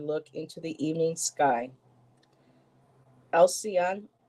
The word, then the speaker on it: Alcyone: Alcyon, I believe that's how you pronounce it, Alcyone, or I think it's Alcyone, from which we get the halcyon bird.